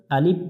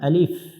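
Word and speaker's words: ألف: অনেকজন এটা ভুল করি শেষে বাংলা দিয়ে প উচ্চারণ করি অর্থাৎ আলিফ বলি আলিফ বলবো না আলিফ আলিফ এই আলিফ অক্ষরটার রূপ হচ্ছে দুইটা এখানে লেখা আছে উপর থেকে নিচের দিকে খাড়া টান আলিফ তার নাম আলিফ তার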